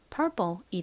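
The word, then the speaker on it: purple: 않는다고 말씀드렸죠 그래서 읽어보면 perple이 됩니다 perple이 p 부분이 좀 된 소리처럼 세게 발음이나요 그래서 실제 미국식 원어 발음으로는 perple 보다는 perple perple 이렇게 쌍 비업 럼 발음이납니다 한국식으로는이 단어 어떻게 쓰나요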